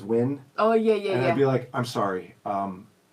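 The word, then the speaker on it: Nguyen: Win, it's an Nguin is Win.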